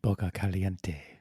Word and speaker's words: Boca Caliente: You have to say it right. You say Boca Caliente. Boca Boca. Caliente. Boca Caliente.